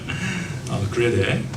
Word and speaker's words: 그레데: 영어 발음으로는 크리트라고 하는데요. 그레데.